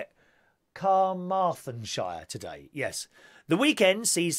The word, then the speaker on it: Carmarthenshire: Carmarthenshire today, yes.